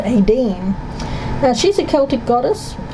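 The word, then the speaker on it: Áine: Okay, this is how you pronounce this card, Aine.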